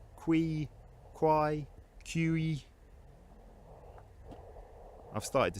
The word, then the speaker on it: Quy: I believe it's Kwai. Anyone from Stow-Cum-Quy watching this, do correct me in the comments if I've got it wrong. It's a funny spelling, isn't it? Q-U-Y, Ki, Qui, Kwai, Q-E.